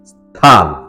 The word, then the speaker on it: স্থান: 43 মূল শব্দ স্থান সঠিক এবং শুদ্ধ উচ্চারণ হল স্থান দন্তন ন এর নিচে একটি অসন্ত দিয়ে উচ্চারণ করতে হয় এবারে 44 মূল শব্দ